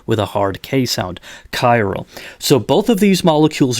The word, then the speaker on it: chiral: we say that the molecule is it self chiral that's CH IR al but it's pronounced with a hardcase ound chiral so both of these molecules are chiral this